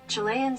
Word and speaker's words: Chilean: with halibut or cod chilean sea chilean sea bass it is not pronounced like fitness instructor jillian michaels with a ch instead of a j this has been how